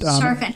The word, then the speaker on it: Sharfin: And Sharfin. He told me to say it like shark fin, but without the K.